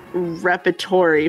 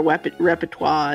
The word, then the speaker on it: repertoire: And then Lynn Geary for lingerie and repertory for repertoire is two of my